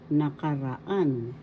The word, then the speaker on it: nakaraan: ra fourth syllable an the fourth syllable has the accent so you pronounce it nakaraan that means fast nakaraan